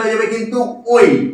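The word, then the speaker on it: ঐ: এর উচ্চারণটা হয়ে যাবে কিন্তু ওই। কি বললাম? এর উচ্চারণটা ওই।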